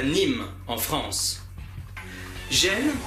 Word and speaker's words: Gênes: Gênes se prononce jean en anglais.